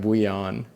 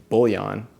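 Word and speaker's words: bouillon: different than that too I'm seeing for French I'm seeing like buan which like which feels feels like more French but yeah the the proper pronunciation is English is is bullion they're all doing they're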